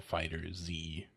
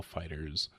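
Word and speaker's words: FighterZ: Dragon Ball Fighters, but the S is a Z. And I did see that there was a pronouncer for it. It's not like Dragon Ball Fighters Z. It's Dragon Ball Fighters.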